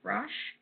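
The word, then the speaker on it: Brosh: So our anxiety and depression kit is Hyperbole and a Half by Ali, I think her last name is pronounced Brush.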